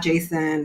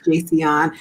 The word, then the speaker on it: Jaseon: talking about your first name and so let's pronounce it correctly because it's not jason it's not a typo it's jason which is also a beautiful name too um